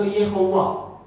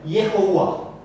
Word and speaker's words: Yehovah: Yahweh, ma è vocalizzato Yehovah, Geova. Quindi è vocalizzato Yeh, con una O che si legge sola, Yehovah.